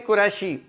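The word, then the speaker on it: क़ुरशी: जी अगला लज देखें कुरैशी यह कुरैश की तरफ जब निस्बत की जाती है तो कुरैशी नहीं है अरबी जुबान में यह है कुरेशी कुरैशी इसमें यह नहीं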